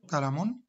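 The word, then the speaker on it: قلم: what object is Palamon this is how to pronounce it in arabic kalamoon say Keith Urban kita born deaf neuron doctrine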